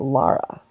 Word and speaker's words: Laura: sister her name was laara looked like spelled like Laura but pronounced Lara yeah well that's how